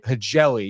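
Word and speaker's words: Hjelle: I think it's Hegeli? Hegeli.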